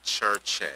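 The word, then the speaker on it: Circe: So, if you look here at the top, K-I-R-K-E, that's saying church-e. Church-e. If you look below, it's saying K-I-R-K-E, church-e. And then it's spelled C-I-R-C-E, that's still church-e.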